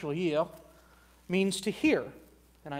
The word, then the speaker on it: oyez: You might be going, wait a second, what in the world does oyez mean? Well, oyez, which is actually derived from the French, oyez, means to hear.